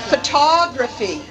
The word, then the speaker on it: photography: photograph photograph photograph and photography photog photography let's try it again photograph pH photograph photography photography photography phography photography can you see the difference in the vowels in the first syllable of those words notice that in the